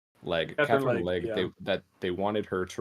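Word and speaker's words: Katherine Legge: I always get her last name wrong. Catherine Legg.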